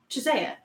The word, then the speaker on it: Chiesa: Anthony, Yeah, I he asked fucking- him how you was pronounce the dying. name, and he said Chisea.